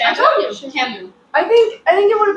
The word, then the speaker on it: Camus: So, like, Guys, it is Camus. What? It is pronounced Camus. I told you, Camus.